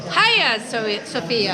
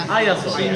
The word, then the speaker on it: Hagia Sophia: So I've spoken to some lovely local guys who have said no, it's Hagia Sophia. Hagia Sophia. Hagia Sophia.